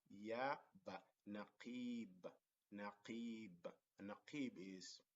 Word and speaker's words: نقيب: It's called naqib. So noon, qa. See, the qa has the kasra. We pronounce it qi, not qu, not qa, but qi.